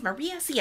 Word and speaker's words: Maria Sia: Miss Maria Sia. I know, because I say that name in the live streams, because she will chat and stuff. So. Did I say it right? You got it right, yeah.